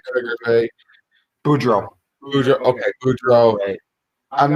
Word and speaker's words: Boudreau: I don't know if I'm sold on Bruce Boudreau, or how to pronounce his name. I'll butcher his name like Kreuger. Boudreau.